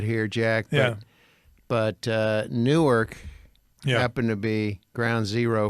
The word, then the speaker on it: Newark: even Newark but now it rhymes with pork by the way for future reference you don't say newer no you don't say New Orleans maybe maybe if you're in Delaware Newark Newark like cork pork dork